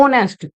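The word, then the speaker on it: honest: जब हम इसे प्रोनाउंस करते हैं, जब हम इसे प्रोनाउंस करते हैं तो हम बोलते हैं ऑनेस्ट। एच की साउंड साइलेंट हो जाती है तो हम इसे प्रोनाउंस करते हैं ऑनेस्ट।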